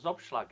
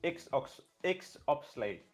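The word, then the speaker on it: XOPSLAG: I now know what Zobschlag is. I don't know if I pronounced it right, but we were coming in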